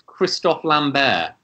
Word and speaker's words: Christophe Lambert: How do you pronounce the person who plays Connor McLeod in Highlander? Ah, so I always thought it's Christophe Lambert.